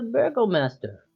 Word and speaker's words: burgomaster: yes, that belongs to the burgomaster. Alright. How do you spell that, Jake? Is it literally just Burger B-U-R. Master? No, it's Burgo Master.